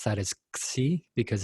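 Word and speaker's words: ξ: to pronounce that is C because it's the Greek letter it sounds like ksi but a hard K some people pronounce it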